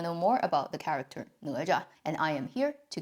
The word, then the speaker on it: Ne Zha: Ne, second tone, Zha, light tone.